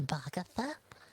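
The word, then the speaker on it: Boggatha: writing something about this sure my name is bhagatha and this is my brother parker we're twins could you spell that out for us perhaps bhagasa b-o-g-g-a-t h a vaga and how do you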